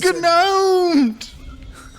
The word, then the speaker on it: gnome: You've been gnomed! That's a lot of... Good sir, that's a lot of tanks! Ah! I wrapped it. It's a gnome. On silent letter.